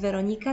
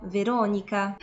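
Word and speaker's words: Veronica: to Monika Monika Bellucci albo Weronika to nie jest Weronika tylko Weronika a wracając jeszcze do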